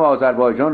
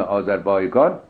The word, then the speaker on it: آذربایجان: تازیان چون قادر به تلفظ حرف گاف نیستن، گاف را به جیم بدل کردن و سرزمین مذکور را آذربیجان نامیدن، از این رو نام آذربایجان به صورت آذربایجان تلفظ شد که اکنون نیز مصطلح است.